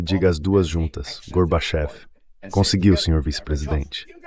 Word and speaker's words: Gorbachev: So it's easy, Mr. Vice President. Say garbage. Então é fácil, senhor vice-presidente. Diga garbage, agora diga off. Agora coloque o acento em off e diga as duas juntas, Gorbachev.